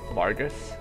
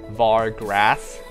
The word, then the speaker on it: Vargas: for level two is Vargas Vargus I always say I always pronounce it wrong I always think the r is after the G so I was like VAR grass there's two RS whatever